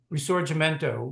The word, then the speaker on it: Risorgimento: It could still have been fragmented states, and the Risorgimento, which is how that one is pronounced, but may never have happened.